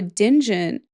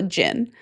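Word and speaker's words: djinn: It's just the D is silent. It's just called a jin.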